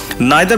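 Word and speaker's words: neither: বললেন নাইদার ডু আই, নাইদার বা নিদার দুটো উচ্চারণই হয়, নাইদার ডু আই, খেয়াল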